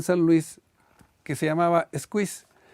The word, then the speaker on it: Squeeze: y en la misma botella del refresco, Squeeze, squeeze. Y entonces estaba el letrero y decía abajito, pronúnciese squeeze.